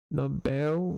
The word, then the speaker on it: Nobel: Essa batônica é o bel nobel, mas a palavra não é acentuada.